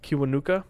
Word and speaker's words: Kiwanuka: how do you say his last name again cuba nuka kiwanuka yep cool another one on that album is